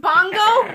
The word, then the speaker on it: Bunga: its name is pronounced bongo really then why don't they spell it like you spell bongo okay now we're gonna